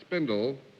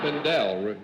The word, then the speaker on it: Spindel: BBS is Mr. Bernard Spindle of Spindle Top. No, Spindel is the proper pronunciation.